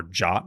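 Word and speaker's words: JWT: it wants to verify the Json web token or jot as we have discovered it is now pronounced uh a secret or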